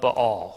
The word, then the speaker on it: Baal: priests or the prophets of ba'al or Baal whatever you want to pronounce it and you've got the